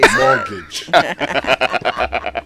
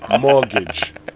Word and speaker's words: mortgage: just similar to what mortgage mortgage so if you want to say it right please first thing the t is not pronounced second even though you